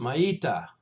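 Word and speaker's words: maitta: We don't use this much in the dojo, but it's pronounced maita, M-A-I-T-T-A, maita.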